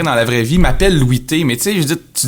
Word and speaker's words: Louis T: Non, surtout qu'on dit pas Louis T, genre, tu sais, on dit Louis T.